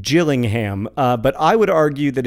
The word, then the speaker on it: Gillingham: I would argue that it's like GIF or GIF. Both pronunciations are correct. I do not know for sure how to say Gillingham and or Gillingham, but I will die in the belief that both are acceptable pronunciations.